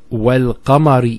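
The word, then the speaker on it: والقمر: Then we have wal-qamari idha talaha. Wal-qamar. See, notice the lam here has a sukoon on it.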